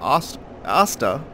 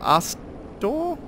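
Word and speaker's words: Arstor: One of the infamous bite rings commissioned by Sir Asta of Kareem. Or Astor? Asta. It's a weird pronunciation. A-R-S-T-O-R. Astor, I guess.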